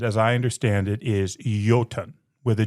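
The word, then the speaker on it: jötunn: The word translated as I understand it is yoten with a j o tu n but pronounced with a y.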